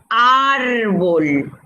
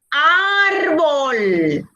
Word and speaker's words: árbol: voy a sacar 5 árbol yo les digo árbol árbol no yo digo árbol y entonces lleva tilde y es grave en la penúltima sílaba